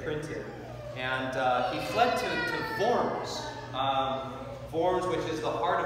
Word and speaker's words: Worms: and he fled to forms forms which is the heart of lutheranism if you're taking notes and forms is we spell it like worms w-o-r-m-s um forms might be